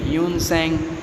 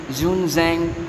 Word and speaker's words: Hiuen Tsang: उसके नाम के अलग अलग प्रोनाउंसिएशन भी है, ह्यून सेंग, जून जैंग, ओके, जियोन जैंग, अलग अलग है, आप यूज़ कर सकते हो।